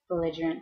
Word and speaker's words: belligerent: describes a person so everybody say belligerent bant it's bigant bant belligerant four syllables and so it describes